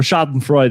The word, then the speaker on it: schadenfreude: direct definition again so schadenfreude or shot and freud as as it can be pronounced yeah could be the